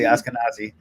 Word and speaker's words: Ashkenazi: Study, what it is to be Ashkenazi. I know I'm probably saying that wrong. So, and no, you're saying it right, actually. Ashkenazi, Sephardic, Ashkenazi, and those